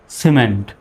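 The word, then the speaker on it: cement: সির পরে যেহেতু ই আসছে, এজন্য সির উচ্চারণ কিসের মতো? স্বর মতো হবে। এখন আর কিমেন্ট বলা যাবে না, সিমেন্ট।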